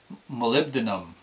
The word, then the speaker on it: molybdenum: a chemical it's crap Molly molybdenum because that's how you say it right right it looks like it's pellet Molly beat denim mo ly b d en um molybdenum and what molybdenum does